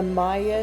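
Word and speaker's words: Maia: this is the Maya nebula NGC 1432 I think that's how you say it m a i a is how it's spelled well this image doesn't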